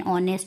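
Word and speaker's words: honest: एन ऑनेस्ट होता है। देखिए क्योंकि इसका एच साइलेंट होता है ना एच ओ एन ई एस टी तो उसमें भी एन आता है।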